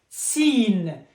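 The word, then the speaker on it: سين: Seen, like subject.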